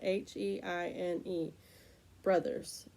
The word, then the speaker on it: Heine Brothers: a certain coffee place it's a funny name it's spelled h-e-i-n-e Brothers b-r-o-s but um it spouts that way but